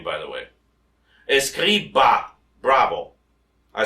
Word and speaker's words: Escriba: Escriba, bravo. I spell it for those who are interested.